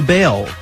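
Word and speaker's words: Baals: After all, the family did change the pronunciation of their last name from Balls to Bale.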